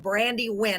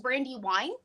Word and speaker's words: Brandiwyne: by the name of Brandy WN is am I pronouncing that right uh it's that's actually a very common problem um it's pronounced Brandy Wine I knew it I